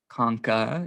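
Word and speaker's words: concha: inside the nasal cavity conka is the singular term when referring to one bone coni you just add an e to it and then say it like con to pluralize it but you see conka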